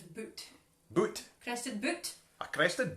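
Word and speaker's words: Butte: Apparently, Crested, it's pronounced like shoot, so it's boot.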